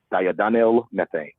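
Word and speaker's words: diindolylmethane: You pronounce it diadenyl methane, and it's basically just the compounds that are within cabbage, Brussels sprouts, arugula, kale.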